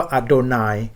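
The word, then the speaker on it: אֲדֹנָי: พระ ผู้ เป็น เจ้า ทาง ทิพย์ รู ออก เสียง ว่า อาโดนาย และ ก็ คำ กริ่ง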